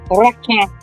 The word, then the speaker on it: requin: My favorite ocean creature to say in French is shark, and that is requin.